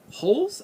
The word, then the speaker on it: Dangle Holes: we have 10 angle d-holes what the hell what the kind of name is that tin tin dangle holes i think i i think the d is silent so it's holes which is a five-star